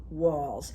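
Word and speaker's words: Walz: good for democracy and so will uh Tim Walls and by the way um his name is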